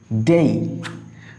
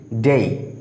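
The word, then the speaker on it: day: খেয়াল করো ডেই। আমরা সাধারণত এই শব্দটার উচ্চারণ ভুল করে থাকি, আমরা বলি ডে, বাট it will be ডেই। আমরা যদি একটু ফনেটিক ট্রান্সলেশন খেয়াল করি, দেখো ড এই, ডেই।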